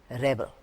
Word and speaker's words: rebel: When the word is stressed, when the stress falls on the first part, rebel, the rebels laid down their arms. Here, the word is a noun, the rebels. The stress is on the first part of the word, rebels.